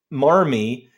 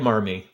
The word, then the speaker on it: Marmee: So because Massachusetts doesn't pronounce the R, so that's where that came from. That's interesting. So strange. But I like Marmee.